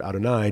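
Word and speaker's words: אדני: However, part of our tradition is that we don't pronounce that word as it appears on the page. This is just letters that stand for God, but we don't pronounce it. Instead, we say Adonai.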